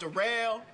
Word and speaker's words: Daryl: It's spelled like Daryl, but it's pronounced Darrell.